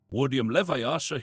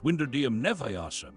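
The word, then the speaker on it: Wingardium Leviosa: Wardium Leviasa, he shouted, waving his long arms like a windmill. You're saying it wrong. Harry heard Hermione snap. It's Winderdeium Neviasa. Make the gar nice and long.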